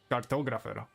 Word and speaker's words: cartographer: When you say it in English, it's cartographer. Like you put it more on the second syllable.